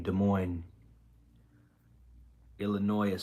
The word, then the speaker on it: Illinois: Illinois is silent. Well, Illinois is silent depending on your speech, right? Because some people say Illinois. Some people make the S have sound.